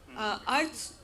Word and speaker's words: Arth: Earth, again, by the name, you can say that it rhymes with Earth, the planet, and in Hindi it means meaning.